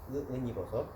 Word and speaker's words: 은이버섯: 은이버섯. 중국식으로 쓰고 우리 발음으로 읽는 은이버섯입니다.